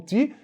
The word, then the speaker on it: te: A gente pronuncia como ti, mas a verdade é T-E.